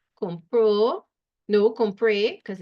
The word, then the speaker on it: compré: Compró, no, compré, because it's I bought. Un vestido. I'll check the best. Accent on the E in compré, right?